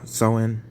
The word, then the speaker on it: Samhain: samhain was first observed by celtic pagans uh sowen most said his name supposed to be pronounced as so in someone mark the celtic